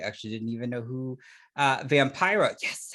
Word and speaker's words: Vampira: I actually didn't even know who Vampira, yes, said it right, Vampira was.